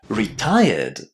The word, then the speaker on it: retired: But this word is not pronounced with red at the end. Listen. Retired. Retired. What can you hear at the end? It's not red, is it? It's ed. Retired.